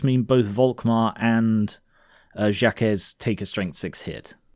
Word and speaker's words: Jacques: You know, cuz it's uh it's a French name, I believe. Yep, I looked up pronunciation, it's Jacques.